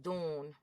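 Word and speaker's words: Dorne: the one you're gonna send me so oh Dune that's why they'd be saying it like that it's spelled d-o-r-n-e yeah yeah I just want something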